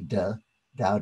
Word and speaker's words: De: The De, spelled T-E, but pronounced D-E, De, Tao De Jing.